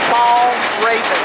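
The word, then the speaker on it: Valravn: So I'm correcting myself on how to pronounce this because I asked, and the correct way to pronounce it is Ball Raven.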